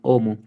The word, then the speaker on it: homo: El único detallito, la H suena de nuevo. Mm, Homo, no es homo, homo. homo.